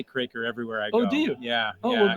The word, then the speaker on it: Kroeker: Winnipeg they pronounced the cracker because 300 years ago there was an umlaut but on the west coast they say croaker this is that so you pronounce your name croak idolater I say Kraker everywhere I do yeah